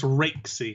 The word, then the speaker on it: Raikesy: It's Raikesy, right? It's not. People say I say it wrong, right? It's Raikesy.